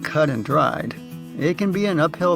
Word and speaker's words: cut and dried: Although the actual idiom is cut and dried, native speakers often pronounce it as cut and dry.